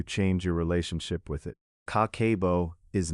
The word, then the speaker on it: Kakeibo: The word Kakeibo, pronounced Kakeibo, translates roughly to household financial ledger.